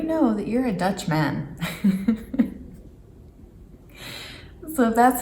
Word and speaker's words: man: man, which, although it's spelled the same, it's pronounced man. So, not man, it's man.